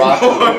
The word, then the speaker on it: Raku: Could we maybe pronounce the name correctly? It was funny the first 90 times, but Nah, Roku. I don't even know your real Yeah, name. it's Raku. Raku? Yeah, it's Alright. R-A.